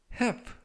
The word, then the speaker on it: half: 이번 표현은 have 라고 발음하시면 되겠고요. 이때 알파벳 L, 이 묵음이라서 이번 단어에서는 발음이 되지 않습니다.